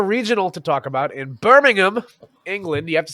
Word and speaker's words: Birmingham: to talk about in Birmingham England you have to say it that way or the Brits will throw rocks at you because it's not pronounced Birmingham as it is in Alabama like I know that